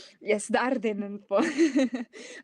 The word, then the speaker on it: Ardennen: Ardennes? Yes, the Ardennen po. We are more familiar with the Belgian, with the Dutch rather pronunciation po, but definitely visit po Ardennen.